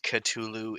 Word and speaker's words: Cthulhu: minute because granted granted katulu is a kosher pronunciation yes oh i'm i'm